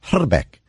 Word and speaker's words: Hrbek: remember him yes exactly I speak a little bit of Czech and the actual correct pronunciation of his name is hala Beck okay and I told